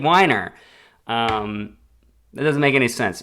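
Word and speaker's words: Winer: It's spelt Winner, but might be Weiner. Dave Weiner? No, it can't be. Podcast. I'm your host, Brian McConnell. Dave Weiner. See? It's Dave Weiner.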